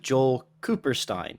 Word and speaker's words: Joel Kupperstein: Okay, so we are here with Joel Kupperstein.